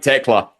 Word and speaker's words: Tekla: Tekla. I pronounced it right, Tekla.